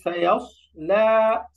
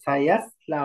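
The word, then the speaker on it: سيصلى: এরপর আসি সায়াস লা, সায়াস লা, মোটা করে সায়াস লা বলা যাবে না, ইয়াস লা বললে এটা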